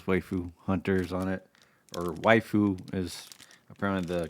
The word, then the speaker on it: waifu: It says Waifu Hunters on it, or Waifu is apparently the correct pronunciation.